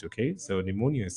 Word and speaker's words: pneumonia: with the spelling of starts with the letter P but the p is silent okay so pneumonia is spelled p n e u m o n i a p n e u